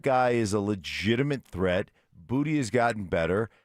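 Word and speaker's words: Boutte: But in Louisiana, it's Booty.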